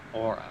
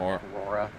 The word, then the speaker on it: aura: You know it's aura, right? Not aurora. I don't know. It's aura, because when you say aurora, it's like the auroran lights.